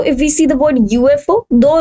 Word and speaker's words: UFO: if we see this the pronunciation of this word it will be beginning with y which is a vanjen. Also if we talk about the English pronunciation it will be like u y beginning with which is a consonant. So that this is creating the consonant sound that is why we